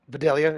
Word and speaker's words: Vidalia: But um, Velveeta, good Vidalia onions, vanilla onions, is what I said, but Vidalia is actually how they're pronounced, I believe.